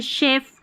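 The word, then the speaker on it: chef: अब जैसे ये शेफ, शेफ की स्पेलिंग है ना, ये हमारे काम आने वाली है।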